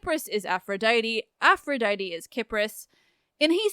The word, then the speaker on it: Kypris: common alternate names are kipris and cathera and yes I recognize it's confusing to pronounce the country and island with a soft sea Cyprus and her name with a hard kipris they are the same